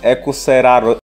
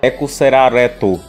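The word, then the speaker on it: エクセラレート: Em japonês é naquele esquema, né? Pronúncia engraçada. O nome em inglês, só que pronunciado em japonês. Ekuseraro... Errou! Ekuserareto.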